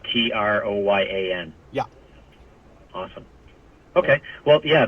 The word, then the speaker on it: Troyan: my name is Troyan. Yeah, it's Troyan. It's on my page. How do you spell that? Like Trojan, but with a Y instead of a J.